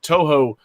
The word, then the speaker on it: Touhou: how to pronounce japanese it's toho t-o-u-h-o-u so i don't know